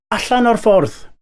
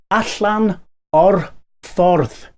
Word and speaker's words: Allan o'r ffordd: Allan o'r ffordd. I'll say it slower so that you can get the pronunciation. Allan o'r ffordd.